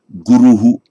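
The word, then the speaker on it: गुरु: In ancient times, it would just, even at the end of a word group, it would just have been pronounced Guru. Modern India, you can say Guruhu, Guruhu. But bear in mind again, remember that echo vowel occurs only at the end of a sentence or word group or verse.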